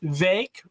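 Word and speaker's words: Vivek: we'll see what happens it's not Vic it's VI rhymes with so you know if you're gonna have him be vice president I mean we had this big issue with camela Cala pronouncing her it's gonna be all over you know we had we had a lot of problems when we were pronouncing her her name wrong so he made it very very firm that it's V vake rhymes with cake and fake and again you know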